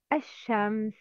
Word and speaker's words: الشمس: Sometimes we don't pronounce lam like al-sama', al-shams, al-naqa.